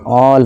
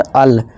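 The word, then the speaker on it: all: अब देखिए जैसे ए के बाद डबल एल सभी में आ रहा है, जी हाँ, तो इसे क्या पढ़ेंगे, ऑल, नॉट अल, ऑल, वॉल, कॉल, बॉल, फॉल, toll.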